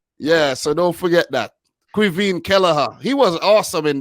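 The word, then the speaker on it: Caoimhín: from irish yeah it's it's pronounced quivine i could have never said it cuisine cuivine yeah yeah yeah cuisine yeah so don't forget that quivine kelleher he was awesome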